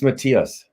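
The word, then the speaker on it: Matthias: have a question for you so is it Matias Matias how do we pronounce it correctly it's Matias Matias see that's what I said I said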